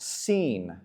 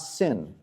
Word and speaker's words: Sin: And quick side note, the the name of this god is pronounced seen, not sin.